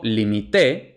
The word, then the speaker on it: limité: veremos no lleva tilde Y por último limité pretérito indefinido o pretérito perfecto simple lleva acento en la última sílaba y según las normas